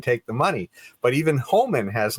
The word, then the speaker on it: Homan: Well, Homan, I guess is how you pronounce his name.